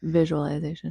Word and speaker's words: visualization: It's not, I know it's spelled with an S, but you say visual, like with I know it doesn't make sense, but visualization.